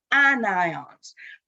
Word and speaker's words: anion: negatively charged ions and those ions are called anions please don't call them anions that is not how you pronounce it it is called an anion so